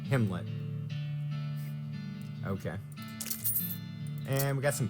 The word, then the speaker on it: Gimlet: a gimlet peanut butter a brand primarily noted for arguments about how to pronounce it according to the manufacturer aligns with kim 'let okay and we've got